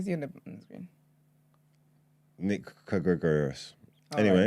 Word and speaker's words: Kyrgios: Probably one of those where the K is silent, so Kyrgios. I should know this.